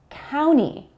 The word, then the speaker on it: county: But the general rule is that when you have an N sound and a T sound next to each other, the T is omitted. So in the word county, you'll often hear county and not county.